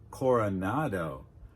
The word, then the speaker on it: Coronado: So we've got "Francisco Coronado" "Coronado" Core like inn "or" "Cora" Remember, /uh/ is one of the most common sounds in English "Cora" "Cora" Now "nado" "nado" Remember